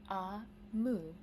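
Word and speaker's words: Omu: by o MOA note to the reader AMU pronounced AMU is the Igbo term for queen means Queen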